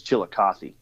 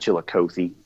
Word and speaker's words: Chillicothe: There's a river that goes through a small town called, the town's name is Chillicothe. Right. And so I think he pronounced it Chillicothe, or Chillicothe, because it was like E on the end.